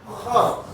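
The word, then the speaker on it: خ: Sama kho. Ibarat kita mau ngeluarin dahak. Kho.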